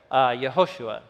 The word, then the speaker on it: Yehoshua: So the meaning of his name in Hebrew, actually how you would have pronounced his full name in Hebrew, the traditional form is up top there, Yehoshua, which is where we get the name Joshua in English as well.